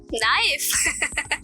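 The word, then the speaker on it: knife: नाइफ। मैं कैसे मान लूं? क्योंकि वो केस से स्टार्ट होती है लेकिन केस साइलेंट होता है।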